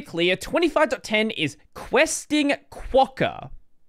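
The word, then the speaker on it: Quokka: Now, just so we're clear, 25.10 10 is questing quawker. Quawker is how you say it. Not questing cocker. You could very well mistakenly read it like that if you're very internetrained like I am.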